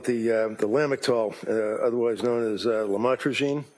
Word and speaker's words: lamotrigine: Lamictal, otherwise known as lamotrigine. Did I pronounce that right? Lamotrigine, yes. Lamotrigine.